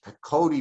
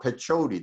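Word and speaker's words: pechoti: practiced ayurvedic medicine and it is the pakodi method or patchoti depending whether you're on this side of the pond or that side of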